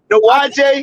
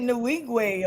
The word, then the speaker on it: Nwigwe: I don't know how you pronounce his last name. Nuwaje. Pronounces it Nwigwe or something like that.